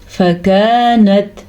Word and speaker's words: فكانت: فكانت فا زبر فا، کاف زبر الف کا، فکا یہ باریک کاف ہے، جبکہ فا کو لمبا نہیں کریں گے کیونکہ فا کے اوپر صرف اور صرف زبر ہے. فکانت.